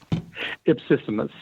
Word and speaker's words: Ipsissimus: Ipsissimus.